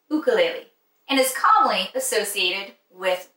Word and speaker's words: ukulele: to listen to today most people call the ukulele but it's actually pronounced ukulele and is commonly associated with the beautiful island